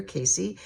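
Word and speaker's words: Cayce: this was predicted by Edgar Casey. If you don't know who he is, do yourself a favor and find out. His last name is spelled C A Y C.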